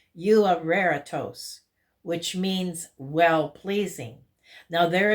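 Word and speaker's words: εὐάρεστος: This one is pronounced euareritos, which means well-pleasing.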